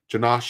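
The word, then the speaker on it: Janosh: because not funny but their name janash is spelled j a n o s h and Victoria spelled v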